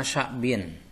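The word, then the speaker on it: شعب: Syu'uban itu adalah jam'a sya'bin, jamanya lafaz sya'bin. Sya'bin bapak bacanya bifathhi syini dengan fathah syin.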